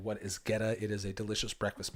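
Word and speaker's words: goetta: white pepper and cloves the name is pronounced geta g t hyphen u h Getta so yeah Getta can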